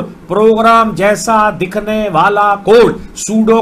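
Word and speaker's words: pseudo: जैसा दिखने वाला code, सूडो code, where spelling में पी साइलेंट है।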